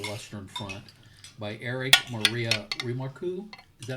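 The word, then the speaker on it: Remarque: R E M A R Q U E Remark. Remark.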